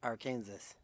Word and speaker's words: Arkansas: Arkansas. You did say it properly. Yes, that is the Christian pronunciation.